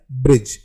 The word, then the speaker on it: bridge: हमारा अगला वर्ड है ब्रिज, BRIDGE। यहाँ पर जो है D वो साइलेंट है और ब्रिज का मतलब होता है पुल।